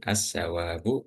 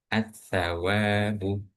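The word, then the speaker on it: الثواب: Nah, itu huruf tsa ya, Pak ya. Nah, jadi enggak tebal. Bukan assawabu, bukan tapi assa. Assa assawabu. Oke. Jadi huruf itu ee diucapkan dengan meletakkan lidah berada di antara dua gigi. E maksudnya gigi atas dan gigi bawah. Atsawabu.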